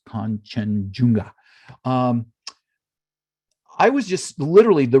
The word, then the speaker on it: Kanchenjunga: It's not chimichanga, it's Kanchenjunga.